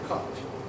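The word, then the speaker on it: قلب: And your heart is, the heart is spelled in Arabic kalb. We say kalb.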